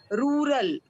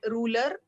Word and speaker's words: rural: have done and and one thing you need to improve in your pronunciation it is rural okay and this not only you I find with many of the medical people that they call it ruler it is not ruler bet it is rural